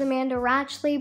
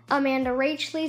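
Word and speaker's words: Amanda Rach Lee: for mispronouncing her name i thought it was amanda ratchli but i've come to know that it is amanda rachel so sorry for mispronouncing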